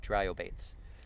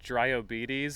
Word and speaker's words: Dryobates: Because like part of me wanted to say like Dryobetes or something.